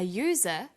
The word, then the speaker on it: user: But a user because user sounds like it begins with a y.